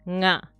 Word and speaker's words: nga: So this symbol is for the sound nga. Nga. This is a sound that you don't find in English a lot.